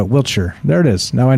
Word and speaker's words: Wiltshire: there he goes uh will wiltshire is pronounced uh wheelchair there it is now